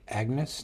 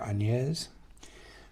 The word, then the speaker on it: Agnes: about this character Dark Agnes, dark anes uh however you say it. I think Anes is how how you say it in French and she's a French character.